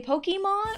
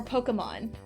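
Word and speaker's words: Pokémon: when I say it, but I know it's Pokemon because it has the little the little thing over the E. I don't know what it's called, but it has a thing over the E. So that implies I say implies it, you know, should insinuate that it is e.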